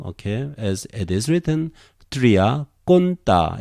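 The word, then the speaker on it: τριάκοντα: Eton, O-C, eton, triaconta, tria, okay? As it is written, triaconta. In modern Greek, conta becomes weaker. Triaconda, like this. Triaconda, accent here.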